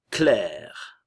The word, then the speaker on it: Claire: Et clair, d'accord? Le A et le I vont se prononcer comme un E espagnol, clair.